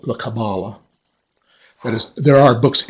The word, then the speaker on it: Kabbalah: Kabbalah you've noticed that the word actually has three syllables and I have heard catalysts themselves pronounce the word with the accent on each of them Kabbalah Kabbalah Kabbalah but the standard pronunciation